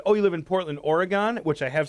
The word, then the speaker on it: Oregon: idiot they say no you pronounce it like the instrument with keys in the church oregon where do you live portland organ and if i said oh you live in portland oregon which i have said